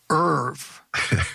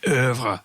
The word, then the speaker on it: oeuvre: So the Munger Irv, or to give it the highbrow pronunciation, oeuvre.